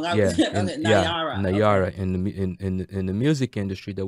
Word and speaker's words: Nayara: Nayara. I keep saying her name wrong. Nayara.